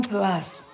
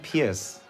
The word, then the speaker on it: Pearce: Du bist doch der Simon Pörs. Fast, aber schon gut. Spricht man das nicht so aus? Nee, schriftlich nicht so aus. Simon Pierce. Pierce, wie Peace mit R vor dem C.